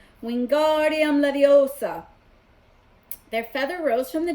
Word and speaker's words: Wingardium Leviosa: having much more luck Wingardium Leviosa you shouted waving his long arms like a windmill you're saying it wrong Harry hurt Hermione snap its wingardium Leviosa make agar nice and long you do it then